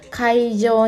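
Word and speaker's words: 会場: Mana nih kira-kira yang katanya itu punya masuk dengan konteks kalimat dan cara bacanya adalah kaijo.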